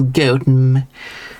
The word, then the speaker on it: Gotham: But that is not the original pronunciation of that name. In case someone was thinking, now it's pronounced Gotham. Nope, not the village because I'm talking about the British village. It is Goten, which was what my original um point was about Buckingham Goam.